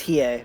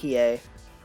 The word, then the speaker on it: Hiei: It's Hiei, by the way. Hiei. Pronounced Hiei.